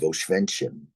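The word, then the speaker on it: Oświęcim: the town of of oenin in fact my father wrote a wonderful book that has is widely read certainly by people visiting Poland called from oenin which is the Polish pronunciation of the city to aitz which is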